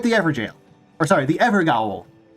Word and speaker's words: Evergaol: Or sorry, the Evergaol. Gotta pronounce it properly because they spelled it a specific way to emphasize a specific pronunciation. So it's Evergaol. Not Everjail, it's Evergaol. Here.